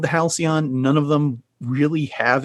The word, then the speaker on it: Halcyon: Well, Chris, you get the gold star for pronunciation. It is, in fact, the Halcyon.